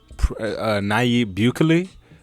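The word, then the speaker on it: Nayib Bukele: in miami in june el salvador and president naib bukley i believe that's how it's pronounced announced that his country will soon accept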